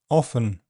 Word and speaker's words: often: The word often can be pronounced with silent t often.